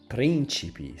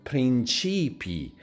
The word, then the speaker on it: principi: The same thing with the word principi, stress in the third to the last, princess, or principi, stress in the second to the last, meaning principles.